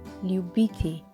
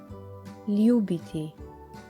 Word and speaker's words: ljubiti: Another verb which means to love is ljubiti or ljubiti. You can pronounce it either way.